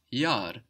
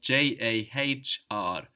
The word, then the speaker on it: Jahr: For example, the year is das Jahr, that's spelled J-A-H-R, and that H just stretches out that vowel, das Jahr.